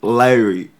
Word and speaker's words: Lyre: Lyre, that's how you say it. Yeah, Lyre.